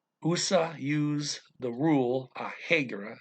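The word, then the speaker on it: regra: use the rule a hegera it's r e g r a so you don't look it doesn't look like rule very much but you realize that they're saying when you hear it but they pronounce their hours as an h heger of 20 minutes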